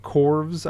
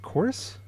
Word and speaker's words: Chorus: It looks like it's spelled Corvs though in the title. This is stupid. Yeah, you're not the only one that mistaked it. It's their fancy way of saying chorus.